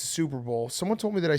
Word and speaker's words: Super Bowl: the way he said can you please stop saying soup bowl it's two syllables Super Bowl you you like your